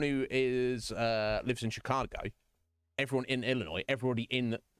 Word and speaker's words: Chicago: people who live there tell you how it's pronounced right I'm pretty sure everyone who is uh lives in Chicago everyone in Illinois everybody in the United States